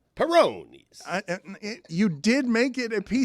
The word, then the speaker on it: Peyronie's: pronounced it like the Italian beer, I believe. Peyronie's.